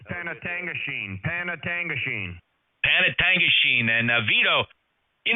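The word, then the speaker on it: Penetanguishene: friends chiming in here to help this Yankee pronounce those town names up in Ontario, Penangatanguishene. All right. 73, Kevin. Thanks a lot. Okay, hey, Jeff, it's Panatangashene.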